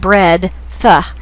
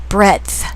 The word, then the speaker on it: breadth: It’s not "bread -tha." It's breaa-th." The D is almost silent.